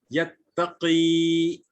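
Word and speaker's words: يتقي: So when we are pronouncing, and that is why tajweed is important, that this is first will be pronounced as yattaqi with two harkat, and this will be pronounced the second one, the chopped form will be yattaqi.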